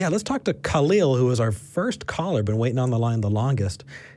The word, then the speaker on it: Khalil: Yeah, let's talk to Khalil, who is our first caller, been waiting on the line the longest. Is it Khalil? Is that how we pronounce it? Yes, it's Khalil, yeah.